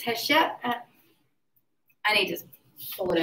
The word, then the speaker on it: Hatshepsut: Also, the most famous leader here, and I never pronounce her name right, and I said her, and that's correct. It's Hatshepsut.